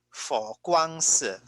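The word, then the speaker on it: 佛光寺: So one example is Fo Guangsi. So that is how you pronounce it, Fo Guangsi.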